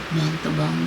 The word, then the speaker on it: Montalban: Is that how you say it? Montalban. The guy from Fantasy Island, his theater. It's actually what? Why are you shaking your head? Oh, nothing. I said it wrong? Oh, no, you said it perfect.